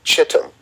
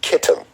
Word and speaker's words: Kittim: one with the kingdom of Chittim, or Kittim, depending on your pronunciation.